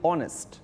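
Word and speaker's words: honest: যদি সাইলেন্ট থাকে, যেমন অনেস্ট, আওয়ার। দেখো আমরা এইচ দিয়ে শুরু করছি কিন্তু উচ্চারণটার প্রোনাউন্সিয়েশনটা স্টার্ট হচ্ছে কিন্তু ও দিয়ে, অনেস্ট।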